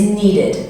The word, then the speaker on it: needed: So, words that end in a D sound or a T sound, which then have an ED at the end, you pronounce as id. So an example of an ED ending word is needed. So it ends in D, and then the way you pronounce the ED is id.